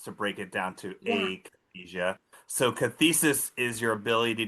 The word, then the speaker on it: akathisia: say akathisia, but maybe it's akathisia, like you pronounced the apraxia. Can you tell us? Yeah, so most people say akathisia, so you're fine to say that.